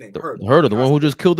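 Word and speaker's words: Huerter: Herder the one who just killed us tonight, right?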